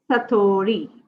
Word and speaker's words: satori: The pronunciation is Satori.